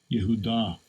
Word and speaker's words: Yehudah: Strong's H3063. Yehudah. Right, that's how it's pronounced by this blue letter.